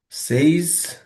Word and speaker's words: seis: সেইস, যেটা ছয় সেটাকে আমরা বলবো হচ্ছে সেইস।